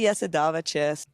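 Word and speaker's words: Jasudavicius: It's actually Yesadava Chess.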